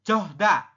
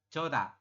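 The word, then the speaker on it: 좋다: Ini bukan johda. Bukan johda tapi dibacanya adalah joda. Joda.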